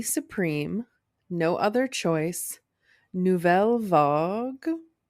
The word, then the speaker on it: Vague: Moon, Beonia, Marty Supreme, No Other Choice, Novel Vogue. Yep. Nailed it. Okay. And one battle after another. Shout out Richard Linkl. Two movies. Is it vague? Vog.